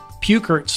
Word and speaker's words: Peukert: teach you in that workshop and learn about pukert's law there and we actually even had to